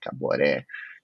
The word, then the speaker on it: Caboré: que nome que tem Caboré é um nome forte né Né três sílabas né uma sílaba forte no final Caboré Caboré el falou nossa que